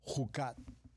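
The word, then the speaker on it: חקת: Es la palabra Jucat. Esta palabra Jucat se escribe J-U-K-A-T.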